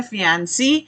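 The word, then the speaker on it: fiancée: अगर महिला की बात हो रही है तो उसकी प्रोनाउंसिएशन है फियांसी, और अगर लड़के की बात हो रही है तो उसे कहते हैं फियांसे, ओके। और इसमें बस ई का ही जो है वो फर्क रह जाता है, द मैन एंड the woman.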